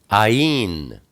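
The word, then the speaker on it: Ayin: s next we have Ain Ain is the number 70 it's pronounced it's a a guttural kind of a g or sometimes it's pronounced ah like ABA and sometimes it's pronounced like a y like yah shua it's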